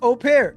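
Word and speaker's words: au pair: It's pronounced opair.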